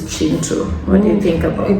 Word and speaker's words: Kintu: So the second book is Chintu. So spelled Kintu, but apparently the Ugandans pronounce this as Chi. So this is Chintu.